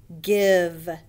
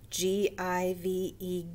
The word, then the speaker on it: give: okay the first word give g-i-v-e give rhymes with live it's a rule breaker e doesn't say i in this word the next word hour